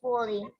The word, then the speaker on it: building: Yang ini bacanya U-nya silent. Building. Building.